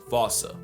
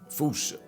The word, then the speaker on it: fossa: What if I told you both are technically wrong? Cause their name comes from the original Malagasy word, and apparently the correct way to say it is Foosh, Foosha, Foosha. Like Foosh with a performance anxiety at the end.